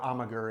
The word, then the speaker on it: Amager: It looks like Amager or Amager. It's pronounced Amager.